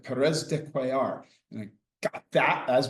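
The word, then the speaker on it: Pérez de Cuéllar: knew that she spoke some Spanish how to pronounce the secretary general from Peru. And she said Perez de quar.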